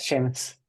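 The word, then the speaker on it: Seamus: of sham sham Sheamus am I pronouncing your name correctly Sheamus Shamus Sheamus yeah that's right Sheamus a lot of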